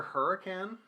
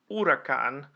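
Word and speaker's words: Huracán: If we're talking just streetcar on streetcar violence here, What is the regular Hurricane? possibly. Well, and so that's Or why the I was Aventador? looking up the regular Huracan.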